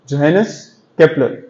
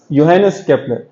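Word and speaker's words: Johannes Kepler: सो Einstein से बहुत सदियों पहले एक मशहूर साइंसदान जिसका नाम था जोहानस केपलर, that's how it's pronounced, योहानस केपलर, जिसके बारे में मुस्तफा आपको अभी बताएंगे, तो उसने भी इसको इस्तेमाल किया था।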